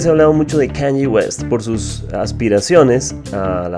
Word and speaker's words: Kanye West: bipolaridad de Kanye West, que por cierto quiere decir, se pronuncia así, Kanye West.